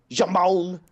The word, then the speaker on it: Jamon: Michael on can Jamon how come we are not pronouncing your name Jamon Jamon because it sounds like shamon so why we we